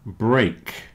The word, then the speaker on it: break: great here's another one break and stake rhyme with cake break and steak rhyme